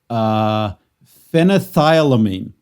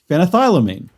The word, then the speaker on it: phenethylamine: And everything I looked up to pronounce this didn't pronounce this right. So phenethylamine. Oh, phenethylamine. Phenethylamine.